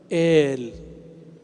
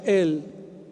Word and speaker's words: il: Il. Orang Arab nggak ada baca el, bacanya il.